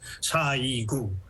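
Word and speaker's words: 사이구: Well, 30 years ago, April 29, here in Korean American community, we call it Sa-i-gu because it rhymes with April 29th.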